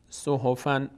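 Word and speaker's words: صحفاً: حفن نون ساکن داشتیم باید برای تلفظ این نون ساکن از کلمه ما قبلش کمک بگیریم از حرکت ما قبل اینجا فتح داره میشه فن صحفن صحفن خب حالا اومدیم چیکار کردیم؟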